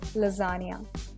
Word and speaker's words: lasagna: have so it's called lasagna lots of people mispronounce it so please take care of the correction uncie ation it is lasagna let's move on ahead and the next kind